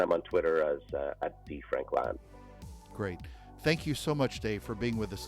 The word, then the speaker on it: Frankland: on there is D Frank land I have to over pronounce the land because uh people come back and say they can't find me because they type in Franklin um we we uh